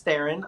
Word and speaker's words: Theron: Yeah, this one is adapted from a comic book, and it stars Charlize Theron, like Sharon, and it is really big.